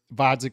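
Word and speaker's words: Gvozdyk: heavyweight debut versus Alexander Vodzik with a silent G.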